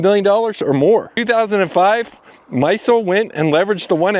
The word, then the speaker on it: Maisel: They enlisted the help of a man named David Maisel , that's how his name is pronounced.